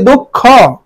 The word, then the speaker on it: দক্ষ: তালব্য স ও কার দন্তন্য হসন্ত ধ আকার সন্ধ্যা এরপরে দক্ষ দক্ষ শব্দটি আমি উচ্চারণ করি দক্ষ দক্ষ মানে দওকার দওকার ক হসন্ত খকার দক্ষ উচ্চারণ এরপরে মৃণময় আমি উচ্চারণ